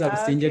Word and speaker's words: Busingye: Well, my name is Busingye. Okay. For the viewers, my name is Busingye, and the co-founder of Crown Agro Initiative